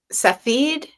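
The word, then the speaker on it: Safdie: Safi.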